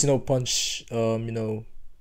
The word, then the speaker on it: Punch: So if you hear me saying Punch, I'm referring to Punch. If you hear me saying Pun, yeah, it's still Punch, you know. I'm just saying it in Thai pronunciation, but most of the